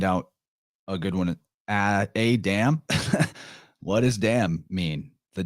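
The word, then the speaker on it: Atum: shitload of them was Adam raw spelled atem but pronounced almost exactly as Adam uh proving quite well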